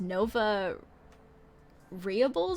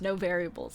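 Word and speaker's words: NoVariables: as you've been around i've always read your name as nova rehables or something like that and i didn't realize until i literally just pronounced it the way i did that your name is just no variables like that's it but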